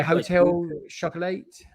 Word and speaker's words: Hotel Chocolat: or was it yeah hotel shuttle eight uh that's how they pronounce it uh i call it hotel chocolate um but yeah they'd